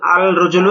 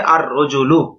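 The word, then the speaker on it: الرَّجُلُ: রজলুন আলিফ লাম য আল রজুলু এটা ভুল কিভাবে আর রজুলু লামটা উচ্চারণ হবে না ব্যাস এই বিষয়টা বুঝানো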